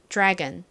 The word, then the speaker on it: drag: 자 발음 연습해 볼게요이 dr이 연달아서 발음이 되니까 뒤에 살짝지 소리가 들어가죠 그래서 발음해보면 원어 발음으로는 drag drag 이렇게 발음이 됩니다 자 연습해 볼까요 건